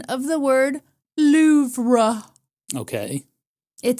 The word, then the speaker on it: Louvre: The R-E at the end of the word is not the emphatic syllable, but it sure as hell is there.